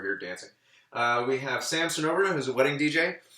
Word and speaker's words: Cernoberna: We have Sam Cernoberna, who's a wedding DJ. That's Cernoberna, 4 syllables, only 2 vowels.